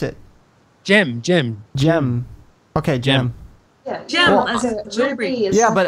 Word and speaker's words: Gem: it didn't uh Jim e how do you pronounce it Jim Jim okay Jim yeah but I said it